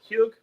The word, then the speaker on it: hug: Going on to the Huger or the Hug. By the way, Hug is the way the Norwegians say it. It's the way they pronounce it. They're in the other Scandinavian cultures, they pronounce it differently.